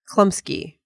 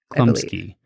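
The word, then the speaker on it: Chlumsky: Oh, Anna Klumsky. Klumsky.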